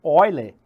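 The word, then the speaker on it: Euler: número aí veja que se você for ler aportuguesado né número de eu né é a pronúncia correta é oile que que significa isso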